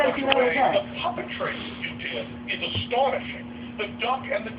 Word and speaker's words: Dedi: Dedi or Didi? D-E-D-I? Yeah. Didi, that's where it's pronounced? Yeah.